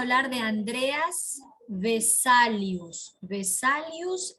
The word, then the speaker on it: Vesalius: de andreas de saludos vesalius es con v como le escucha vesalius tal como escucha con ese andreas termine